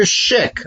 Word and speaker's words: Szyk: Now, I don't have it to hand, but the Arthur Szyk, I know it's really supposed to be pronounced sick, Arthur Szyk Haggadah, and